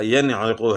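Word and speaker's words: يَنْعِقُ: پڑھنا ہے، انعمتا انعمتا۔ اس طرح ینعقو ہے، صحیح جو ہے نا تلفظ کے ساتھ اور اظہار یعنی اس طرح ہوگا، ینعقو ہے۔ تو بعض لوگ اس میں جو ہے نا سکتہ کر لیتے ہیں، یعنی وہ کس طرح، ینعقو اس طرح پڑھ لیتے ہیں، آواز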